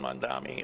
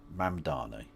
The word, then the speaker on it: Mamdani: Zoran Mdani. It's four syllables, mate.